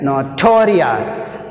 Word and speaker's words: notorious: See here, notorious, notorious, notorious, torious, to, rious 1. That's why it takes second syllable to.